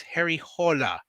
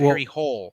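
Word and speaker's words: Harry Hole: pronounce the name correctly it's Harry hola it's not Harry hle every time they said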